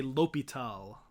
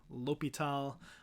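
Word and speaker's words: L'Hôpital: read this out loud i just make the h silent so if i'm trying to read it i say l'hopital l'hopital is the way that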